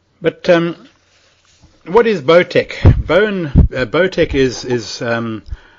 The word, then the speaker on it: Bowen: um what is botch bone botch is is um like an Australian homegrown uh therapy it's it's um it's called the Bowen technique it's it's not B NE it's spelled b Wen now this is takes